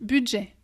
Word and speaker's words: budget: de voyelles on sait pas trop comment les prononcer pour la première fois yens ici on a un hublot budget budget budget rappelle toi n'a pas de but comme